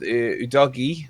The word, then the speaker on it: Udogie: I think with Udogie, I always get his name. Is that how you meant to pronounce it?